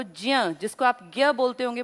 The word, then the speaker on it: ज्ञ: आज हम बात करेंगे क से ज्य तक। इसको असलियत में प्रोनाउंस करना चाहिए ज्य की तरह, पर लोकल हम लोग जो है ज्ञ बोलते हैं।